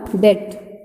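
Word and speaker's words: debt: ये आपका क्या है, ये आपका क्या है, देखिए इस वर्ड को T के साथ B है ना, तो ये आपका हो जाएगा डेट, ये भी आप कलर करेंगे, ठीक है।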